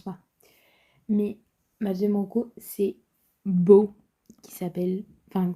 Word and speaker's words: Beaux: Je pense pas mais ma deè c'est beau qui s'appelle enfin ça s'écrit B E A U X comme beau mais au pluriel.